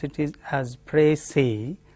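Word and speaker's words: précis: pronounce it is has precis s the final s is silent in French that the convention is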